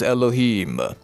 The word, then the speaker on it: Elohim: to this group, and that can be pronounced in your language terms as Elohim.